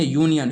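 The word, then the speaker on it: union: अब देखिए यहाँ पे लिखे यूनियन, ये ओनियन नहीं है यू है, यूनियन, यूनियन के पहले भी ए लगाएंगे।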